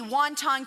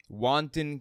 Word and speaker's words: wanton: anyway just listen to bobert here read the word wanton and not have any idea how to pronounce it grabbing and grasping vicious backstabbing they made life hell on Earth with their Envy wonton killing I don't know what a wonton killing is wanton killing it means that you're you're absolutely